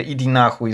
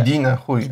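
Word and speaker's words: Иди нахуй: Na przykład te Idinahuj z Wyspy Węży. Ja myślę, że... Idinahuj. Akcentuje się inaczej.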